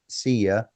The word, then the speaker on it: szia: Not only do they say when you greet somebody from Hungary or they greet you, they will say Szia, SZIA, which sounds phonetically like see you, goodbye, you know, slang, see you, goodbye.